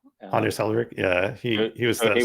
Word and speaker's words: Anders Hejlsberg: I'm not sure if I can pronounce the name. Is it Andres Hejlsberg? Anders Hejlsberg, yeah, he was the he was C# quite creator.